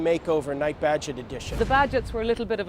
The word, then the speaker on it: Bagehot: night budget edition the badgets were a little bit of a strange breed we have a funny name people can't pronounce it they think it's baggy hot i was waitlisted when